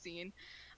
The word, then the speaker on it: zine: I'm gonna annoy everyone with my pronunciation. I know it's zine.